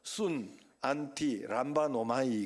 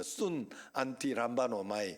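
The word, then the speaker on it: συναντιλαμβάνομαι: 묶어서 한 단어를 만들었어요 그게 바로 순 안티 람바 노마이 그러는 거 순 안티 람바 노마이 한번 따라합시다 순 안티 람바 노마이 바노이요 마지막에 잘 발음이 안 돼 람바 노마이 이게 바로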